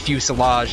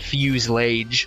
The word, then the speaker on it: fuselage: Found out that it was actually pronounced fuselage, not fuse. The truth burns clear.